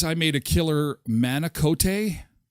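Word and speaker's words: manicotti: a cup Derek says I made a killer manicot it's pronounced managot stuffed with cream cheese and moah topped with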